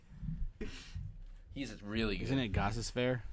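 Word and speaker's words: Gostisbehere: It is pronounced Goss's Bear.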